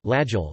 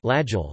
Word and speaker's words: Laguiole: Laguiole, French pronunciation, Laguiole, locally Laguiole, sometimes called Tome de Laguiole, is a French